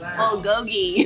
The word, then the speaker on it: bulgogi: I ordered beef bulgogi.